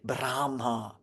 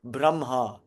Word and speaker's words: Brahma: these lineages for instance we don't say brahma you might hear some people say brahma because it's spelled that way b r a h m a brahma it's braha but again that's not how it's spelled but that rule comes from something in the gautas braha it's spelled braha Aha.